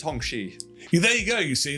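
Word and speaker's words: Hongqi: uh the names of the Hong Quay and St like that so pronounced hongi there you go you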